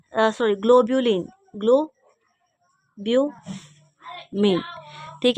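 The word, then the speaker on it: globulin: पहला प्रोटीन मैंने बताया था एल्बुमिन ठीक है दूसरा ग्लोब्यूमिन सॉरी ग्लोबुलिन ग्लो ब्यू ठीक है तो क्या था ग्लोबलन ग्लोब ग्लोबलन है एल आई एन ई ठीक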